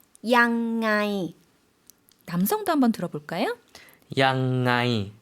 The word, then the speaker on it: ยังไง: 어떻게 발음하죠? ยังไง 남성도 한번 들어볼까요?